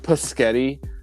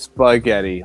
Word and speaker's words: spaghetti: you say it right no it's like SP it's like petti like no dud it's spaghetti like don't don't be that